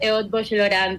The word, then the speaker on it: Eötvös Loránd: docente de la Universidad Casa Grande y también de la Universidad Eötvös Loránd, que es justamente un nombre muy difícil de pronunciar, ¿no?